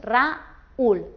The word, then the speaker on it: Raúl: Por ejemplo, el nombre propio Raúl, aquí la U va acentuada. Así que al pronunciarlo no haríamos Raúl, sino haríamos Raúl. Lo separaríamos y formaríamos un hiato y dos sílabas.